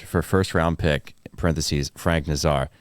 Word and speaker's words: Nazar: Nazar has done. That's how you pronounce it.